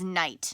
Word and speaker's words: night: That GH is silent. We haven't learned that yet, but that's why this is night.